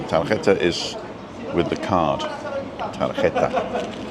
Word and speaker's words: tarjeta: Tarjeta. Because the J is an H.